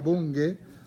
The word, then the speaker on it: Bunge: Hay un librito maravilloso que yo recomiendo desde ya, que se llama Mario Bunge, sería Bunge, pronunciado, vive, este señor debe tener casi 100 años.